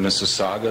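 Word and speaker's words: Mississauga: with uh someone in Mrs Saga that's how it's pronounced Mr Saga Ontario uh because she has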